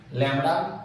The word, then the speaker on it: lambda: its wavelength symbol lambda where b is silent lambda you have to say